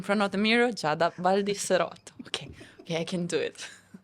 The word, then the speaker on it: Baldiserotto: give us a bit of background of Giada Baldiserotto in Italy, or wherever you've been in the past few years? Before Dubai, what or where is Giada Baldiserotto?